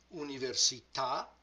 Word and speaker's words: università: syllable was cheetah the università università the the original word right so when the stress is on the last syllable let the word slide very easily and then stop abruptly here is an example